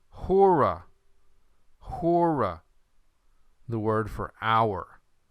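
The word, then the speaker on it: ὥρα: Notice the way I pronounced it. Is this rough or smooth? Hemera. This is rough. Okay, number 4, hora.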